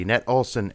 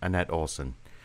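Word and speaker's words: Anette Olzon: I don't know if I'm pronouncing her name correct, but at least as far as how it would be pronounced here in the States, it's Annette Olson.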